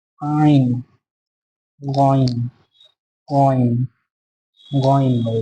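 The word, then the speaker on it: عين: উচ্চারণটা গলার ভিতর থেকে হবে আইন, আইন।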